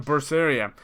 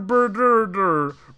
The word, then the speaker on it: Berseria: I mean, this is a series that had one called Tales of Berseria. And everybody who did a Let's Play on it pronounced the fucking thing differently. Everyone. Tales of Berder.